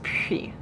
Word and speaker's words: puis: So it's puis. Puis-je aller aux toilettes? If you have specific questions about French pronunciation, feel free to leave that in the comments section or just ask me during class, whatever.